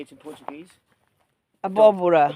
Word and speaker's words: abóbora: Abóbora. Abóbora, yeah.